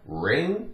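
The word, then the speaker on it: wring: this is W ring it's the same sound ring because W is silent but it means to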